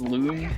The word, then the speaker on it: Lum: okay what if yeah apparently it's supposed to be pronounced loom i still call them lums but yeah that's why